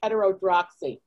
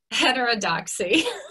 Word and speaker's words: heterodoxy: i couldn't pronounce it i just read it like heterodroxy heterodoxy might have it here